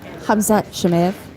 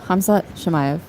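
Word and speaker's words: Khamzat Chimaev: Hamzat Shemaev Shemaev. Okay. or Shemaev. Shemaev. See, that's the name I think we're gonna be saying a lot soon. So gotta get used to it. Yeah, Hamzat Shemaev.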